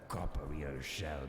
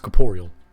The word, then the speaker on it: corporeal: wishes to leave the copper rear shell behind and the flame that blocks your way shall be extinguished it's pronounced corporeal horrors does this mean we